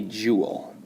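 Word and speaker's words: joule: to measure kinetic energy is called a jewel and we spell that j 0 UL e the velocity is squared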